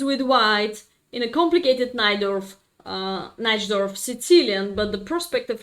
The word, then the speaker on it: Najdorf: Yeah, in my country we spell it Najdorf, but I know that it could be more precise pronunciation Najdorf in English.